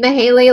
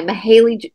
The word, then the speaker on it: Mayhayley: of it before and the way it's spelled May Hal like with it's spelled m a h h l e y mahaley mahaley Lancaster Miss mahy so um anyway